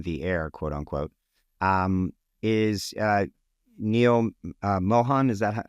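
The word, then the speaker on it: Neal Mohan: we went on the air, quote unquote, is Neil Mohan.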